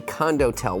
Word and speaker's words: condotel: are talking about condotel I'm going to spell it for you c o n d o t e l like condo and hotel it's condo and the last part Hotel well you could get that right condotel what is a